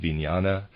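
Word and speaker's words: vijnana: This third force is called vinana equals consciousness. I'm pronouncing it vinyana.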